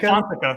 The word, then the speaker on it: Alfonseca: I think Anthony Alfonseca. Yeah, A-L-F- yeah, there we go. Alfonseca? Alfonseca.